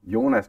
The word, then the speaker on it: Jonas: see let's see see Jonas kusen well I why am I saying it in English I don't know yonas Ken is the Danish pronunciation and as you can